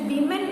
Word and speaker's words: women: WOMAN എന്ന് പറയുന്നത് ഒരു സ്ത്രീയാണ്. വുമൺ എന്നാണ് അതിന്റെ പ്രൊനൗൺസിയേഷൻ. WOMEN എന്ന് പറഞ്ഞത് സ്ത്രീകൾ, പ്ലൂറലാണ്. അതിന്റെ പ്രൊനൗൺസിയേഷൻ വിമൻ എന്നാണ്. എഴുതുന്ന പോലെയല്ല ഇതിന്റെ ഈ വാക്കുകളുടെ ഉച്ചാരണം.